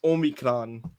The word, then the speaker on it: omicron: i said it um she told me that it's not an effing transformer um and said it's omicron is how you pronounce it we're not going to